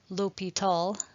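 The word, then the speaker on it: L'Hôpital: But it's actually the name of a French person, his last name. And so the pronunciation is Li Tall.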